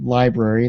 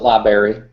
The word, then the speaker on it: library: search in your area type in library that's l i b r a r y just some people pronounce it laary sorry Canadian we have